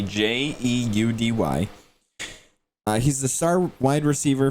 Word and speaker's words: Jeudy: And we think it's pronounced Judy, Jeudy.